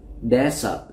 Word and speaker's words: desert: À, các bạn lưu ý sẽ có từ nó gần gần giống như cái từ này, đó là sa mạc. Chúng ta đọc là desert. Desert là sa mạc. Thì một số bạn sẽ đọc nhầm cái từ dessert này với từ desert.